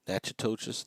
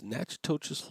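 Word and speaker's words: Natchitoches: we'll do here is nachas the um and I'm probably slaughtering that name so please forgive me for that but it's Nach toas Louisiana is what we're going to pronounce that as and we're going to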